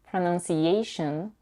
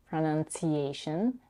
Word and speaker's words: pronunciation: This often happens when the fricative sh or s comes after the n sound. Sh becomes ch and s becomes t. It can happen in words like attention, attention, pronunciation, pronunciation, etc.